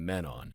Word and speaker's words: Mm'menon: An Ilvoy named Menon. Menon.